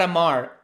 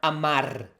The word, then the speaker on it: amar: Not amar, amar.